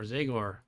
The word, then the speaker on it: Zagor: the name Zagor, or Zagor, pronounced so that the Z-A rhymes with Bay. Yeah, so there you go, Zagor, rather than with Ba.